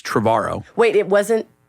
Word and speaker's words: Trevorrow: to say like, well, it rhymes with tomorrow. Yeah. Like who wants to know that You guy? said that to me the first time I met you, that it was Colin Now you're Trevorrow, outing me as having